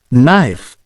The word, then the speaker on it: knife: a H for example in the word knife the K is silent and in the word doubt the B is silent let's practice some words with silent letters knife silent k doubt silent